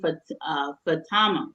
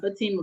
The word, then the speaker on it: Fatama: He was born to King Lahai Masakwe of the Galenas Kingdom, and his mother was Queen Fatama, not Fatima, but Fatama Bendu Tendamani of Njabaka.